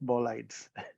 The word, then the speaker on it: bolides: meteorites yeah thank you so you pronounce it bow lights I do and uh how